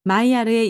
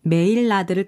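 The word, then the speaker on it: Maillard: 마이야르가 아미노산, 바로 단백질과 당질을 함께 가열하면 갈색으로 변하는 것을 발견했는데 마이야르의 영어 발음인 메일라드를 따서 이 반응을 메일라드 반응이라고 부르게 되었다.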